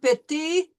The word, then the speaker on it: petit: We are not going to pronounce the final consonants of these words. And I want you to remember, here we have an AN, so we know that's going to be nasal. And we're going to end on the E sound, petit.